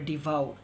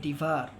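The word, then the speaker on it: devour: ডিভার, অনেকে এটা উচ্চারণ করে ডিভাউর, সেটা কিন্তু একটি ভুল উচ্চারণ, উচ্চারণটি হবে ডিভার।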